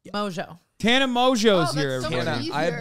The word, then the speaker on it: Mongeau: need to clarify something how do you say your last name Mojo Tana Mojo's here I